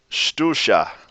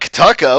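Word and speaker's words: ctuca: If you look at it from an English perspective, it's like Kataka. What the hell is that? Kataka. Doesn't work. Shtusha. Shtusha. Shtusha. That's how you pronounce that one.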